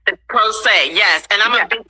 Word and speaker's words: pro se: talk to us about this term pro se is that is that how you pronounce it pro say yes pro se yes and i'm a